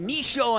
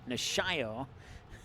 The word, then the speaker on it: Nishio: intended for Udo shio when I got to say it quickly I say it wrong and when I stop to look at the roster I say it right nishio so corner kick here